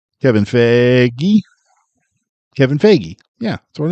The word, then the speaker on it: Feige: Kevin Fiji. Whatever your name is, Mr. Marvel Stop Man. pronouncing the G. Kevin Feige.